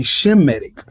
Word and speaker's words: Semitic: some medicines whatever cause they ain't saying it right no goddamn way it's supposed to be shematic because we come from Shem if any we come